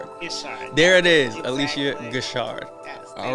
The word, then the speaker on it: Guichard: only Alicia wait I gotta make sure I'm pronouncing the last name right so correct me if I'm wrong there it is Alicia good Shard all right so for those of you who